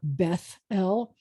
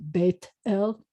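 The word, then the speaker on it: בית אל: you have congregations like Beth El, or cities named Beth El, where modern Israeli pronunciation would pronounce it Beit El.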